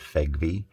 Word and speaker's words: FEGVE: FEG V spinner collection that's spelled f-e-g-u-v-e I pronounce that FEG V most of these and